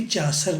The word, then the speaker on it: Chaucer: चासर, right pronunciation चासर है. मैं आज तक चासर बोलता था, लोग चौसर बोलते थे. मैं कहता पता नहीं, मैं चासर ही बोलता हूँ. आप इसे मेरी सुन्नत समझ के चासर बोला करें. आज डिक्शनरी भी इसे चासर प्रोनाउंस कर रही है.